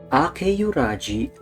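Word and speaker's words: 明浦路: So, here's Tsukasa Sensei's last name in Romanji. All you have to do is pretend, emphasis on pretend, that there's a letter Y in between the E and U. So you pronounce it as Akeyuraji, Akeyuraji, Akeyuraji.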